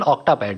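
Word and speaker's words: Octapad: ये electronic drums की category में है और इसको ऑक्टापैड इसलिए बोलते हैं क्योंकि इसमें 8 पैड होते हैं। 8 को ऑक्टेव, ऑक्टा कहते हैं, तो इसलिए रिलेट्स टू 8। एक्चुअली इसका करेक्ट प्रोनाउंसिएशन ऑक्टापैड है।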